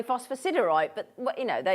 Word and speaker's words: phosphosiderite: phosphosiderite isn't it phosphosite there's me telling you how to say it and I I always say it phosphorite but it's apparently phosphosiderite but what you know